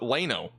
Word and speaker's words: Llano: Lano? Somebody said it was like Plano, but Lano.